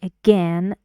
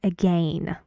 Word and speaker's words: again: balls and you see in British English you can both say again and again both of them are true um and this one